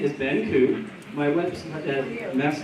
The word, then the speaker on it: Ku: So my name is Ben Koo. My website, last name is spelled K-U, it's simple, 2 letters.